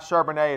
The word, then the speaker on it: Charbonnet: is Zack Shar banette I've actually been pronouncing like he was French apparently it's Josh not Charbonnet if sure Burnett will